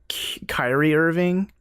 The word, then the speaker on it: Kyrie Irving: But Kyrie Irving.